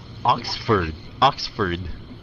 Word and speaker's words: Oxford: Cái chữ này nó nhìn vậy mà nó phát âm lạ lắm. Oxford. Ox, cái sau này fur. Oxford. Yeah, Oxford. Yeah, xuống giọng ha.